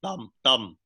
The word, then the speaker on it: Tam: I think it's important for the audience to know that although my name is pronounced Tam in English, in Vietnamese it's pronounced Thum.